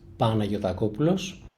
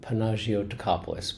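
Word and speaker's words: Panagiotopoulos: It's in Greek it's pronounced panotopulos. In the US uh people usually go with panagios but but you can call me.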